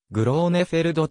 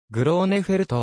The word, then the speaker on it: グローネフェルト: 右利きバックハンドストロークは両手打ち西は苦労ねフェルドとも表記されるがドイツ語の発音ではグレー目フェルトに近い苦労ねフェルトは父親の勧めにより 5 歳